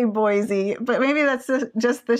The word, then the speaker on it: Boise: Boise. I always say Boise, but maybe that's just the Chicago in me. No, that's how you're supposed to say boy and then Z. I think Boise. it's Boise.